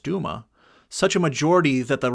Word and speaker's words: Duma: And the constitutional Democrats obtained a crushing majority in the Duma, pronounced Duma, such a majority that the Russian government is now perplexed as to what is to be done next.